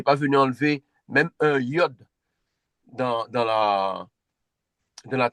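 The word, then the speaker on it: יוד: Elle se prononce. Y comme y.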